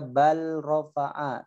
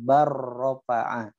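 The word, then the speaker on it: بل رفعه: Enggak boleh bacanya bal rafa'a, tapi langsung barrafa'a. Jadi dimasukkan jadi satu.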